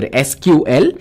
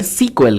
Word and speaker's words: SQL: And if you're wondering how SQL is pronounced, it is pronounced as either SQL or it's called SQL, guys.